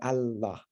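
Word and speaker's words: الله: Al ilah, the God, that vowel right there contracts out to Allah.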